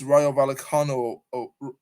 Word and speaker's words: Rayo Vallecano: It was 1-1 against Osasuna at home, 2-2 against Rayo Vallecano away. That's how you pronounce it.